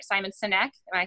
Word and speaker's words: Sinek: to sit down with simon i can never pronounce his last name right simon sinek am i saying that right yes um i